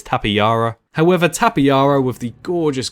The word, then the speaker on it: Tapejara: The next flying reptile, probably the biggest fan favourite on here, is Tapejara or Tapejara or Tapejara. Loads of people pronounce it differently. I believe it's Tapejara.